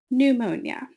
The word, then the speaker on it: pneumonia: Pneumonia. Notice that the P is silent.